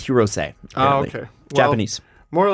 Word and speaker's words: Hirose: He spells it's spelled Hirose, but it's Hirose.